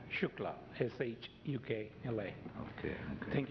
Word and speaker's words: Shukla: next speaker is shua is that correct I probably butchered your name come on up and correct me please uh the name is Shukla sh UK La okay